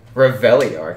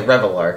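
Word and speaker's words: Reveillark: It's Reveliarch. I don't think that's the correct pronunciation. You know, it's definitely Revelarch. Right? You hear a bunch of weird shit at these tournaments, and that's definitely one of them.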